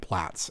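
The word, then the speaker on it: Plaits: will see that that it lists both plates and plats as pronunciations for that word.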